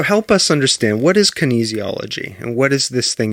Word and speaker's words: kinesiology: to say the word okay so it's it's kinesiology yeah okay all right so help us understand what is kinesiology and what is this thing you studied this